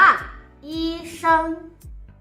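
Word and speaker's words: 医生: ช่วย เหลือ คน อื่น นะ คะ อ่าน ว่า อี เซิง อี เซิง eason คุณ หมอ น่า รัก eason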